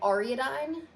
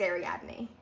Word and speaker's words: Ariadne: I'm like a Greek mythology nerd, and I've heard it pronounced right, but for some reason in my head, it always goes to like Ariadne, and I know that's not right. Ariadne! It's Ariadne.